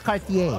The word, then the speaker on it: Cartier: Bilang nasa Paris ako, di po pinopronounce ang letter R. Oh. Kaya nga, Cartier.